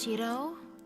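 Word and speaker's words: Shirou: a private life so this is the correct pronunciation is Shiro yeah it's perfect I'm sorry I asked you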